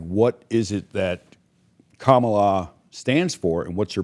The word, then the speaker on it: Kamala: It's Kamala, and the issue is, why do people want her?